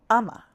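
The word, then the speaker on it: ཨ་མ: Ama is two syllables. So we have a and then a tsek and then we have ma and then a tsek. So we know that it's two syllables. It's not one like "am", it's a ma.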